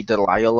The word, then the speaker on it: DeLisle: one who voices Daphne at the moment, Grey Delisle, or however you pronounce her last name.